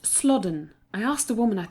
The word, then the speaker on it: Slaughden: "Old Slaughton." Joanne ducked her head back inside the car. "It's pronounced Slodden.